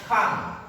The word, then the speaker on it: can't: Bacanya can't. Jangan can. Ya.